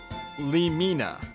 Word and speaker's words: Lemina: Lemina. Lemina is how you should say her name.